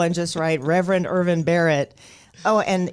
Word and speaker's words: Barrett: go to google and just write reverend irvin barrett oh and it's b-a-r-r-e-t-t yes just in case i was pronouncing it terribly no you did well sometimes